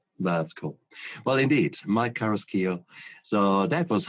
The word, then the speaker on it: Carrasquillo: Did I pronounce that right? Carrasquillo?